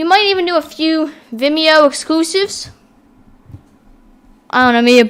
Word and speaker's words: Vimeo: we have now gotten i believe it's pronounced vimeo vimeo it's similar to youtube